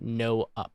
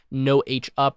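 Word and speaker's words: nohup: we need to use a command called no-up or no-h-up or whatever you want to call it. I don't know how you say it, but it's called no-hup like that, okay?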